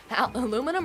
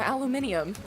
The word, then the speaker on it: aluminium: And is it aluminum or aluminium? Even though I don't I don't really get the British saying aluminium cuz there is an extra letter in there.